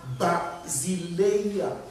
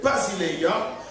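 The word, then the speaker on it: βασιλεία: royaume des cieux le royaume de Dieu c'est basiléa ça s'écrit bien ça s'éppelle B a s i l e I a ok Basilea et donc ce terme ou bien ce mot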